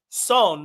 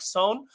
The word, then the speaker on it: Son: is it's actually pronounced son, like it rhymes with tone, like son. So it's son.